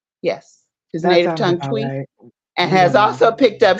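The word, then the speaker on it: Twi: He Speaks his native tongue how do you pronounce it Jay twe yes his native tongue twe and has also picked up Spanish and Portuguese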